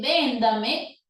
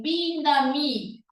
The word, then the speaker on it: véndame: En vez de la O, pronuncia la O como si fuera U. Entonces, en vez de decir Señor, va a decir Señor. En vez de véndame, va a decir vindami.